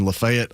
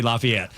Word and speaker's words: LaFayette: I love the fact you said it right. Yeah. Yeah. Because a lot a lot of people you know that that are from metro Atlanta would say Lafayette growing up up there